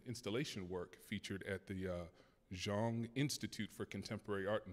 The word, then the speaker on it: Jong: work featured at the Jong Institute for Contemporary Art in South Korea. Yes. Did I pronounce that right? Yes, I think so. Okay, Jong, okay. I think it's Zong, yeah.